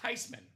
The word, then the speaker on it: Theismann: It's actually pronounced Theismann. It's a German name.